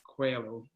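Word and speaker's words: Coelho: So it's written by a Brazilian guy called Paulo Coehlo, Well done. Good pronunciation. A lot of people get his name wrong.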